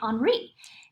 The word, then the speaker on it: Henri: And this right here, it looks like Henry, but how we pronounce it is the H is silent in French, so we're going to say Henri.